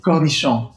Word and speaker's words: cornichon: And then if you want, you can add capers or you can add the little cornichon, the little... By the way, how do you properly say that word? Cornichon.